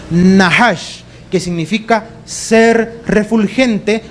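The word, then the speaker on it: נחש: Pero en el original, la palabra que allí aparece es una palabra que se pronuncia más o menos en el hebreo nahash, que significa ser refulgente o ser de luz.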